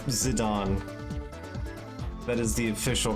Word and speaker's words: Zidane: It's Zidane. That is the official pronunciation for his name.